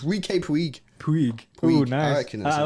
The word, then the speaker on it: Puig: How do you pronounce his surname? Puig. It can't be that, can it? It's not Puig. It can't, basically, right? Puig. It's Ricky Puig.